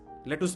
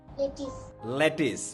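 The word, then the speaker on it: lettuce: আমরা বলি হচ্ছে লেটুস লেটুস পাতা যেটা লেটুস এটা কি হবে বলতো লেটিস ভেরি গুড এটা ইংরেজিটা লেটুস বলে না ওরা বলে কি লেটিস তাই না গাজর আমরা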